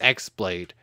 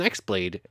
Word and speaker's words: X-Blade: Note, I know it says X-Blade. The X is pronounced like key.